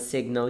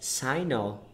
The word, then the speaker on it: signal: And there's a thing, is there a possibility of pronouncing this as sinal? No. No? No, you would think so because without the AL at the end, it's sign. Okay. Like the G is silent. And but then sign. Okay. So words. Signal. Signal. Signal.